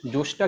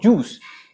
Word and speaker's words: জোশ: আর জোশ, জোশটা কিন্তু আসলে জোশ নয়, আসলে উচ্চারণ হচ্ছে জুস, মানে হচ্ছে স্টিউ করা কোনো কিছু, মানে ঘিতে কোনো কিছু স্টিউ করা, সেই জিনিসটাই হচ্ছে রোগান জোশ।